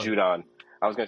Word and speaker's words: Judon: I for the life of me, I can't pronounce his last name. Matthew Judon. Judon. I was gonna say Gideon.